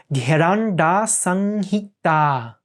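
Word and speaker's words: Gheranda Samhita: It means bindu, so it's an M, which is a nasalization of the sound. And then we have a long A at the end. So this will be Gheranda Sanghita, the long A at the end.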